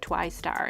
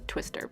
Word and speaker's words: TWI_STAR: at that's how you say my name it's twice star and what some people have said it twister but it's twice tower